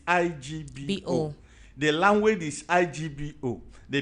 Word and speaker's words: Igbo: And some will even call it Ebo. Some will even call it Ibo. Okay, some call it Ebo that's E B O. Yes. Some will spell it I B O. But the real what the real people is IGBO.